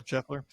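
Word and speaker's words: Scheffler: how do you say his name shefer yeah shefer his wife have the baby yet not that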